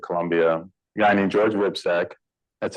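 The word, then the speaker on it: Hripcsak: Biomedical Informatics at Columbia, a guy named George Wipsek. That's how you pronounce that funny Eastern European last name.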